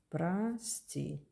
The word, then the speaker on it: прости: O, not stressed, is A. Please remember this rule. For example, сон is a dream. The O is O. 100, 100 is 100, 100. O is O. But in прости, as I told you,